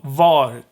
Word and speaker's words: var: tense or gets dropped the same goes for var which means where where so var could also lose its r in the in a